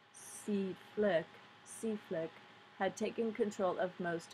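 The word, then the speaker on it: CFLCC: And it was just a matter of weeks before the coalition forces Land Component Command, pronounced CFLIC, had taken control of most of Iraq.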